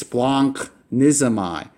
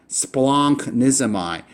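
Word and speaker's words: σπλαγχνίζομαι: in Greek, this is splonknizomai. Splonknizomai. So this right here, that's an NCH sound. All right, nunk. So you wouldn't say sploghnizomai. You would say splonknizomai.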